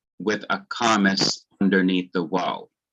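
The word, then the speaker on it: וָ: a kamis underneath the waw. So when the conjunction stands immediately before the accented syllable, especially when it connects a pair of words, it is wa.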